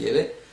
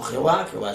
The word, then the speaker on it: Yahvé: El Padre tiene un nombre personal, que parece ser que la pronunciación es Yahvé, no Jehová es un nombre falso.